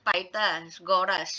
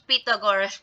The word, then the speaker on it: Pythagoras: So last time, ang bigkas ko dito is Pythagoras. So, which is wrong. May nag-correct sa akin, which is Pythagoras pala ang tamang bigkas niya.